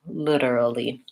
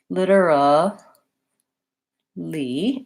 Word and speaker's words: literally: like a D almost like I'm saying literally literally it is different Finiti and you can learn